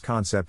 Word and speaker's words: concept: Phonetic Alphabet to pronounce concept have in mind that the size of the syllable indicates where the accent or stress is in this case the accent is in the first syllable corresponding to Khan low